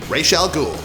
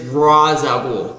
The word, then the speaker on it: Ra's al Ghul: the criminal mastermind himself Rael ghoul you are pronouncing it wrong sir it is Ral ghoul oh yeah we'll take